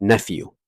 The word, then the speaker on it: nephew: دغه PH په F تلفظیږي، په ف تلفظیږي nephew.